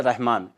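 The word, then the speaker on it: رحمن: जैसे रहमान, मीम को हम थोड़ा खींच के बोलते हैं क्योंकि खड़ी ज़बर है ऊपर, रहमान।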